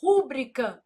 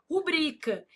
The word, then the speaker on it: rubrica: A pessoa vai lá e fala assim: "Rúbrica não, não existe, meu filho. Ah, mas eu não posso falar se eu quiser. Se você quiser, você pode falar, mas tá errado. O certo é o quê? Rubrica.